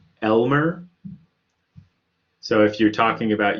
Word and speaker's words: lmer: we have to use lm e r and that's pronounced generally speaking elmer so if you're talking